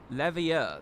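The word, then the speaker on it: Leveilleur: Levier, that's how we say his name.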